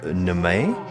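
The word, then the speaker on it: Neame: pronounce his name wrong Christopher N is how you say ne e a m e oh okay um does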